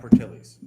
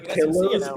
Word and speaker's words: Portillo's: Portillo's. Not Portillos.